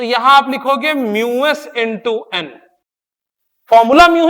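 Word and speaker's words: mu: And what is म्यू? This term is pronounced as म्यू।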